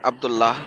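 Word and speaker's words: عبد الله: ये इन्होंने बाद में अपनी किताबों में अब्दुल्ला लिखते हैं और प्रोनाउंस करते हैं अब्दुल्लाह, क्योंकि वहां पे प्रोनाउंसिएशन ये चल रही थी।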